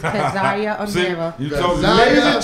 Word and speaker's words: Keziah Amirra: It's okay, it's KEZIAH AMIRRA.